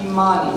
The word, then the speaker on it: Imani: If you have a program, and you're looking at the second piece, that word that starts with an I, it is pronounced Imani.